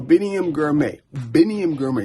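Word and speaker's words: Biniam Girmay: So Biniam Grimy, you see I pronounced it right.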